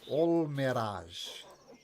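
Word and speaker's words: Almiraj: you pronounce it you pronounce it like all mirage like that um they're fairly timid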